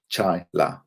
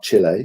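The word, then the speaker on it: Chaila: don't repeat the trauma chyla like chai tea but with la at the end chai la she even has a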